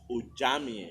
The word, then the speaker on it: Ojemere: One that is still very fresh in my mind is one of our comrades, Mrs. Bessie Ojemere. She was... It is actually pronounced Ojamie. Ojamie.